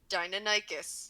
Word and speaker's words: Deinonychus: Robin, please pronounce that for me. Deinonychus.